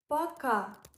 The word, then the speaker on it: пока: Пока. It means bye and pronounced like paka.